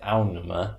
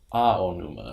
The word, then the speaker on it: Aonuma: When you're pronouncing Japanese words, you always do the vowels distinctly. Yes. So you don't say aonuma, it's aonuma.